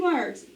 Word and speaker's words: word: work world all right these are one-syllable words where the accent is on the o-r it should say or but it does not because the w is being ballsy and it has changed the sound to er so that w becomes